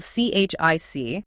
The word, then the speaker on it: chic: They initially called themselves ABBA Chique, spelled C-H-I-C. They wanted that French pronunciation, chic.